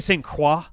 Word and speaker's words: Croix: Croix I get it technically st. qua but qua qua I like French I speak a decent amount of French but the qua like syllable always sounds awkward to me like